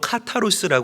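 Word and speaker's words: καθαρός: 본문에 나오는이 청결하다는이 표현은 헬라어로 카스라 읽고 발음을 합니다 카타스의 뜻은 섞지 않는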